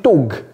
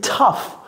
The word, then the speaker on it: tough: C'est pas non plus tog. C'est pas t C'est tough.